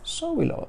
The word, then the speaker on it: Sowilo: The last one of the second Aett of the Elder Futhark is Sowilo. Sowilo, that's a W if you can't tell.